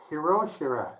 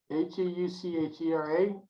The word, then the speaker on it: Heuchera: So this is a question from her on Hiroshira. Did I say it right? The which one? Hiroshira? Heuchera? Heuchera. Heuchera. Okay, heuchera. That's it.